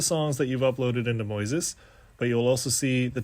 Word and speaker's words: Moises: everybody Welcome to Moises it's spelled like noises with an M Moises all right so right